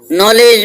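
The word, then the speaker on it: knowledge: इसी तरीके से नॉलेज, नॉलेज में K, W और D तीन ध्वनियां साइलेंट है।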